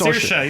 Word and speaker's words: Saoirse: It's Saoirse. You're right. I believe it's Saoirse Ronan. Inertia. That's right. I saw her say it. It rhymes with inertia.